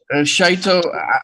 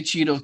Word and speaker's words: Shaito: Shaito, I won't be mad if you say Cheeto too.